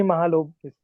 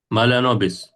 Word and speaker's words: Mahalanobis: Sir, he is PC Mahalobis. Mahalanobis.